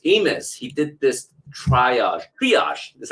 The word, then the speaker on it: triage: according to Bruce Amos he did this triage triage this is how you pronounce it triage Theory and he says his